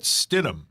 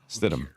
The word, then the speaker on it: Stidham: Jarrett Stidham. Yeah, yes. Stidham. I say it either way.